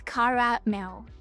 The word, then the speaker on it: caramel: Yeah, it's three syllables. Car mail. I say caramel. That's what I always said. Caramel. Even though that's probably I guess caramel is right.